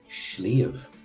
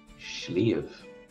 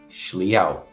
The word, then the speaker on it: sliabh: I'm from Munster, and that's Munster pronunciation of the word. That's fine in Connacht too, but in Ulster, my Ulster pronunciation is patchy enough. They would say it's something like shliau. Shliau. And again, shliau.